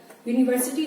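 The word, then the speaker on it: university: एक और वर्ड है जैसे यूनिवर्सिटी, यू जो है वो एक वाउल है और यूनिवर्सिटी वर्ड जो है ये यू से शुरू होता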